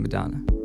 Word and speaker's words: Madana: spelled differently from the wonderful singer Madonna, but it's pronounced the same, Madonna.